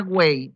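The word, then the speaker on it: 卫: Energía Wei. Wei significa energía defensiva. Energía Wei, en algunos libros se encuentra escrito como Oe, y se pronuncia Wei.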